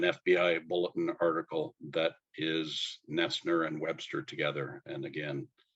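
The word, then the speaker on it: Noesner: hold it up well stalling for time it's pronounced nestner but the spelling is a little bit different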